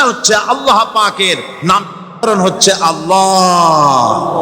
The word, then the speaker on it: আল্লাহ: না কেউ বলে না আল্লাহ আল্লাহ পাকের উচ্চারণটা হচ্ছে আল্লাহ পাকের নাম হচ্ছে আল্লাহ মুখটা একটু গোল হয়ে যাবে বলেন আল্লাহ আল্লাহ আল্লাহ সুবহানাল্লাহ।